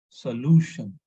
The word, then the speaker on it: solution: It is not stressing on shun. It is stressing on LU, solution.